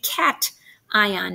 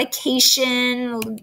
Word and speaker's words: cation: electrons is positive and we call that a cat ion not acacian people come up with all kinds of funny pronunciation that's a cation ionic bonds form crystals